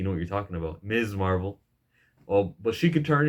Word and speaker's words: Ms. Marvel: your favorite young Avengers, Ms. Marvel, that's how you pronounce her name, by the way, Ms. Marvel, with the emphasis on the Z. All you YouTubers calling it her Miss Marvel, acting like you know what you're talking about.